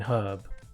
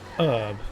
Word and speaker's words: herb: explanation as to why you don't pronounce the h in herb um like I don't understand why in America it's pronounced herb instead of herb with without the H